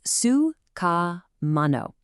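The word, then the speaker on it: സുഖമാണോ: The answer is suano. Just look at how it naturally breaks down into four distinct phonetic beats.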